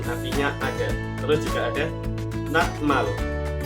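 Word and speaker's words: 낱말: Terus juga ada natmal. Natmal si tiet tadi karena ketemu miem akan menjadi nian, jadi dibacanya nanmal, artinya kosakata ataupun kata.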